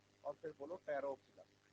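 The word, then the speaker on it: Pteropsida: और फिर बोलो टेरोप्सिडा। पोटैरो नहीं बोलना, ठीक है? टेरोप्सिडा। पोटैरो यहाँ पी साइलेंट है।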